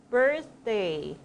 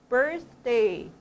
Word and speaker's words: birthday: th는 어떻게 발음할까요? 혀끝이 두 입술 사이에 살짝 나왔다 들어가는 거예요. 자, 선생님 보셔야 되겠어요. 자, 주먹, birthday, birthday.